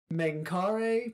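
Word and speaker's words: Mengkare: and I have in the notes to pronounce it 5 times. Menkare, Menkare, Menkare, Menkare, Menkare.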